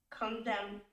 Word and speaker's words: condemn: Do you pronounce N in the end or no? Condemn. So yes or no? No, no.